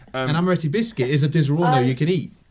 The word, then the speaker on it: Disaronno: It's how it's spelt. It's Disaronno.